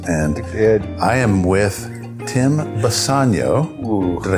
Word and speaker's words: Bisagno: And I am with Tim Bisagno. Ooh. Did I say it right? Yes. Bisagno.